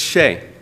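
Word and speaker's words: Hsieh: The H is in front of the S. How do you pronounce that? It's Shay.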